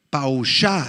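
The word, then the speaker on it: פָּשַׁע: la palabra hebrea pausa pausha la voy a deletrear p a wu s h a h con acento en la segunda a Pau shau esta esta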